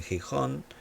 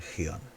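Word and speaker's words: Gihón: Algunos dicen Gijón, en España hay una ciudad que se llama Gijón, pero se escribe con J, otros lo leen Gión.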